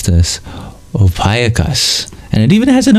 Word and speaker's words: Ophiuchus: Ophiuchus is the pronunciation. Gotcha. Thank you. I'm learning so much. Or Maggie gives an alternative. Ophiuchus. Well, I guess it's kind of the same, just different emphasis.